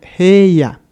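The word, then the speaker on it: 平野: Entonces, en lugar de pronunciarse como G y ya, haciendo el énfasis en la I, vamos a tener una vocal larga E, ya que, bueno, aquí las tenemos juntas. Por lo tanto, la pronunciación sería heya, que significa llanura.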